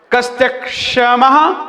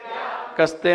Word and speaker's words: कस्त्यक्षमः: कस्त्यक्षमः सुरगुरुप प्रतिमोपि बुद्ध्या। कस्ते नहीं, कस्त्यक। कस्त्यक्षमः सुरगुरुप प्रतिमोपि बुद्ध्या।